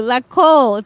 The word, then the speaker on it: Lakol: It means glue, Lakol.